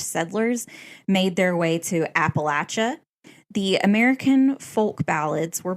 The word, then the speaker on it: Appalachia: It's Appalachia.